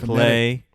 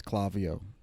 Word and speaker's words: Klaviyo: The phonetic pronunciation. Klaviyo. Get it right. It's so funny because everybody we talk to thinks it's Klaviyo.